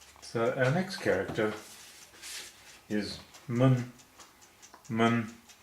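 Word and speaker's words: 们: So our next character is mun. Mun. Mun doesn't have any tone at all.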